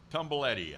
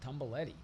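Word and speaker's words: Tumblety: tumbly up there please tumble Eddie I think is how you pronounce it tumbaletti tumble it right there okay now here's an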